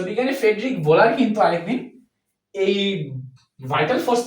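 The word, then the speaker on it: Friedrich Wöhler: পরবর্তীতে আরেকজন বিজ্ঞানী বিজ্ঞানী ফ্রেডরিক এটার উচ্চারণটা হচ্ছে ফেডিক ভোলার। কিন্তু এটার যে স্পেলিংটা এই স্পেলিংটা দেখে লাগে হচ্ছে ফ্রেডরিক ওহো। কিন্তু আসলে উচ্চারণটা হবে কি? ফ্রেড ভোলার। সো বিজ্ঞানী ফেডরিক ভোলার কিন্তু আরেকদিন এই ভাইটাল ফোর্স থিরিকে ভুল প্রমাণ করে।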